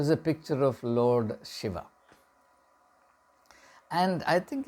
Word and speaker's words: Shiva: of shiv or shiva I'll stick to the pronunciation Shiva in English it would be uh in a purist pronunciation sense it should be shiv but it's much better to use our uh Native pronunciation Shiva um he identified the